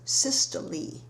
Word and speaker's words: systole: to ventricular contraction as systole sys tol e with a long e sound so systolic pressure is